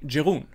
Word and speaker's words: Jeroen: to pronounce his name, because it's written Jeroen, and you think, oh, that's the way how to pronounce it. I'm trying to be really Belgian French, but it's actually Jeroen.